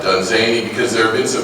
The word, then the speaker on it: Dunsany: just don't I mean we need a mnemonic for the pronunciation of uh uh uh done zany because there have been